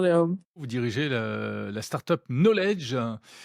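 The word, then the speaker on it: Nolej: Vous dirigez la startup Knowledge. Ça s'écrit N-O-L-E-J. On comprend qu'il y a un jeu de mots entre knowledge en anglais.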